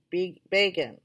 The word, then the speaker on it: Begin: The highway is named after the Menachem Begin, said Isabel, pronouncing begin as Begin.